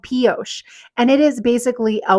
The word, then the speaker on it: Pioche: really wanted to talk about posos not penos don't worry I have said it wrong so many times it is called posos and it is basically